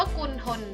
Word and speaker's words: กุณฑล: โอเค อีก หน้า นึง กุณฑล สะกด ว่า ก็ วู น้อ คุณ ทอ โอ๊ะ รอ คน อ่าน ว่า คุณ ทน เหมือน กัน ทอ นาง มณโฑ ออก เสียง เหมือน ทหาร เลย นะ คะ อ่ะ คำ